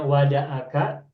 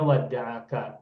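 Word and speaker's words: وَدَّعَكَ: Nah, jadi ada qiraat yang membacanya wadaaka, ada yang membacanya waddaa waddaaka. Dan kita membacanya waddaaka bertasdid pada ain fi'il gitu.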